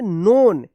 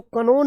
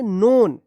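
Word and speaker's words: known: यहां पे भी एन से पहले के आया है तो के साइलेंट हो गया है। के एन ओ डबल एन। क्या पढ़ेंगे? नोन। इसको कनोन मत पढ़िएगा। क्या पढ़ेंगे? नोन।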